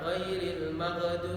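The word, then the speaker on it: غَيْرِ الْمَغْضُوبِ: Kemudian kesalahan yang berikutnya adalah membaca gha-nya dengan ghaib, dengan huruf ra. Ghairil maghdu, ghairi. Ada sebagian orang ghairi, ro yang dibacanya. Ya, tidak bisa mengucapkan ghaib. Dibaca dengan ra. Ya. Jadi termasuk kesalahan.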